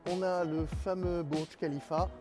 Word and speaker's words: Khalifa: des touristes à Dubaï, vous ne dites pas Burj Khalifa, vous dites Burj Khalifa, car le KH se prononce Kha.